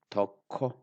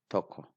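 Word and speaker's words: tokko: of any Oromo word Toko it is not taco it is Toko so I Stay deep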